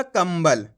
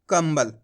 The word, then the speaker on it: कंबल: पहचान करनी है उसके बाद वाला अक्षर अगर इन चार अक्षर में से होता है तो आपको वहां प आधा मा का उच्चारण कर देना इतना आसान सा तरीका है तो अपन ने इसको कैसे पढ़ा कंबल कैसे पढ़ा कंबल आया